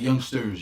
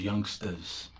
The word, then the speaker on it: youngsters: Not youngsters, youngsters. Oh, okay. Like young stars. Young stars. Rhyming with gangster. Gangsters. Like if you say gangstas, yeah, it's like that. No ER.